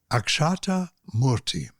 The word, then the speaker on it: Akshata Murty: Akshata Murty. Is that correctly pronounced?